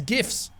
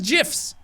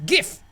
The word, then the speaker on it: GIF: "Kind of, but with way less gifs! I'm setting up my profile now." Emily, did you pronounce this as "jifs?"